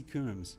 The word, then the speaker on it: Coombs: I don't know if it's pronounced Combs or Coombs Fellowship with the Australian National University in Canberra. Is it Coombs or Combs? H.C. Coombs.